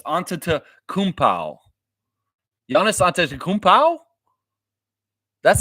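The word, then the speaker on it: Antetokounmpo: pow an an Kow it's not Anto it's an Kow yianis anow that's how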